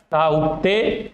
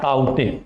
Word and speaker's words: ताउते: ताउते या ताउते, दोनों प्रोनाउंसिएशन होता है।